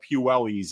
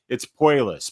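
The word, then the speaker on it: Puelles: It's not Claudio Puelli's either. It's Puelis, but I don't know.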